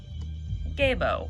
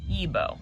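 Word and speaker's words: Gebo: The next one we're gonna look at is Gabo, or Yibo, depending on how you want to pronounce it. I've heard it both ways. I like saying Gabo just because of the G, but you can also pronounce it as Yibo, or yeah, Yibo.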